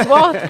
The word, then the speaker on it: Wath: Yeah, it's spelled WATH, isn't it? But it's WAF Group.